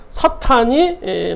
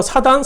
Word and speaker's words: 사탄: 그러니까 뭐 라디오, 뭐 라디오, 뭐 TV, 텔레비전 그런 의미, 영어 표기로 하면 사탄이 맞는 발음인데 우리는 뭐 사단, 사탄 뭐 이렇게 발음을 또 하기도 해요. 그러니까 둘 다 맞는 거고요.